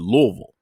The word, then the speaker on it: Louisville: Is it Louisville or is it Louisville? Which one is it here? It's Louisville. Okay, You Louisville.